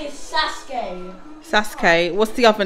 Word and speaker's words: Sasuke: Sasko.